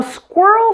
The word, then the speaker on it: squirrel: sounds there too now squirrel starts with an S blend which combines an S with a K sound practice this with me good so you blend the S sound smoothly with the K sound be careful not to add a sound before the S or between the s and K look carefully at my